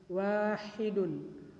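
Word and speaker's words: واحد: Kalau di situ tulisannya huruf ha, maka kita harus bacanya dengan jelas. Wahidun, wahidun, bukan wahidun. Kalau wahidun maka tulisannya adalah huruf kha, sedangkan di sana adalah huruf ha.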